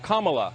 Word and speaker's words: Kamala: being repeatedly said incorrectly her name is pronounced comma like the punctuation mark look kamala so i'm disrespecting her